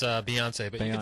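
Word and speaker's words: Beyoncé: don't even know bance Bon here the singer bance am I saying that right am I am I saying it right it's a Beyonce but you say you can just say ba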